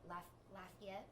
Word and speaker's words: Lafayette: and New Orleans and Lafayette. I always say that wrong. You pronounced it right. Okay, I did it right that time.